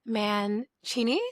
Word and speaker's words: Mancini: I am your host, Michelle Kessle, and today I'm joined by someone I've been looking forward to chatting with, Manchini. Did I pronounce that correctly?